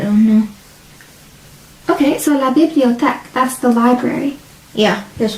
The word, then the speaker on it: bibliothèque: et La it's 4 syllables. bibliothèque. So not the A, bibliothèque.